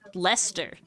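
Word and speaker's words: Leicester: things like lier is how it's spelled is pronounced Lester in British British is its own language so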